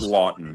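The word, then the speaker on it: Laughton: Scott Lawton, not Scott Loughton. Lawton.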